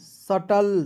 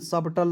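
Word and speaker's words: subtle: बी टी एल ई सटल सबटल नहीं ठीक है सटल इसे पढ़ेंगे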